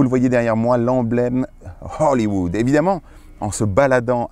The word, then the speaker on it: Hollywood: Faut bien prononcer le H. Hollywood. C'est pas O, mais H.